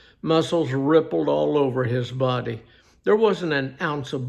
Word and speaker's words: Beau: I asked, pronouncing it with a B-O sound. "No, my name's Bo. It's spelled B-E-A-U.